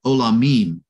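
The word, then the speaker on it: עולמים: in this case it's olamim and so whenever there's a yield Bim whatever is that eem sound at the end of a Hebrew word that reflects the place of it being a plural and so it's not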